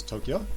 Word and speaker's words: Tokyo: That's two syllables, Tokyo.